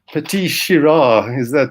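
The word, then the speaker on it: Petite Sirah: And petite syrah, that's the way we pronounce it.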